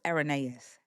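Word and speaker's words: Irenaeus: It's And it's pronounced Aronyaeus.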